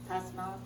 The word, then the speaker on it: Vipassana: Vipassana? V-I-P-A-S-S-A-N-A.